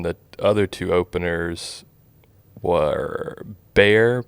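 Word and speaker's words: Bexar: other two openers were bare but it's spelled b-e-x-a-r they're like an indie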